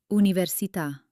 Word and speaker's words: università: It tells you to hit that last syllable with extra energy. Let's try some common words where the accent is king. Repeat after me. Caffè. Città. Perché? Università.